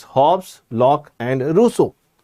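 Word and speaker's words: Rousseau: Hobs, lock and russo. The pronunciation is Russo.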